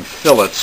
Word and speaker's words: fillet: more about uh putting fillets in this is how you pronounce it it's not the fish but we say fillet and a fillet is